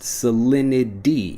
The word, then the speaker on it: salinity: the conversation next salinity salinity when I'm pronouncing it fast salinity even though again we have that T sound salinity becomes salinity when we're pronouncing it quickly what's the salinity of